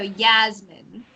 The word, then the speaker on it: Yasmine: and then this name the s is more like a Z so Yasmine yes okay and then